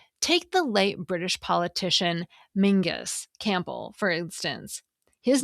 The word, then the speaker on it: Menzies: Take the late British politician Mingus Campbell, for instance. His name is spelled Menzies.